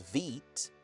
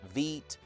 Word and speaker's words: Vite: template repo which uses VEET. Yes, it's pronounced VEET even though it's spelled like vite. VEET.